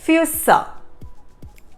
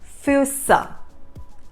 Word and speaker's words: Füße: And feet, that is the plural of Fuß in German, becomes Füße. Füße. U with an umlaut.